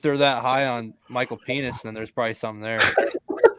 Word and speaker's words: Penix: I don't think Michael Penis is going to get drafted in the first round. It's so weird to me that the X is pronounced like an S, but I see that though.